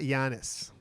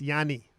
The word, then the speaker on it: Giannis: No, in the Greek language, it's not Giannis. It's Yanni. Yeah, Yanni, you Malaka Pustis.